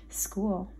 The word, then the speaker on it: school: and with our friends school s c h o o l the h is silent school s is an